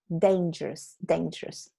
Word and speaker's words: dangerous: Dangerous. Dane, no da. Dangerous.